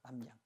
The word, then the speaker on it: 납량: 납량이란 말, 납량. 여름철에 귀신 나오는 거 그죠? 영화. 남량이라고 그러죠. 남량. 근데 원래 단어는 납량이에요. 근데 실제 발음은 남량이 되죠. 그러면 보세요.